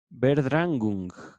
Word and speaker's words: Verdrängung: Aparece la palabra en alemán, Verdrängung. La estoy latinizando. Esto lo pueden escribir así como lo estoy pronunciando Verdrängung, con V y con dos puntitos arriba de la A, que esto se tradujo como esfuerzo de suplantación y desalojo.